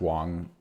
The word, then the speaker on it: Wang: I'm pronouncing it right I think it's pronounced Wong and not not Wang um and yeah so